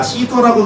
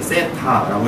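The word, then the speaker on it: theta: 선생님에 따라 시터라고 읽는 사람도 있고요, 테타라고 읽는 사람도 있지만 그냥 쌤은 편안하게 세타라고 읽을 겁니다.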